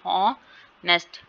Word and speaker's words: honest: ठीक है, for example the word ऑनेस्ट and perfect and with two consonants but the stress falls on the first syllable as honest and perfect.